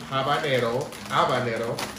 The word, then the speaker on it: habanero: Habanero. The H is silent.